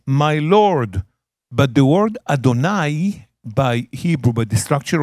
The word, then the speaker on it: Adonai: ending is plural possession my so you say Adonai and it's spelled also look at the spelling under the